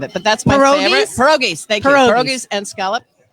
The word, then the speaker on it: pierogies: said is going to go on, is the Pergos. I can't even pronounce it. Pergos and scallops. Can't even think of it, but that's my favorite. Pierogies.